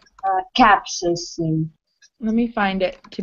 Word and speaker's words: capsaicin: This word pronounced like capsaicin or capsaicin. This stress on the first capsaicin.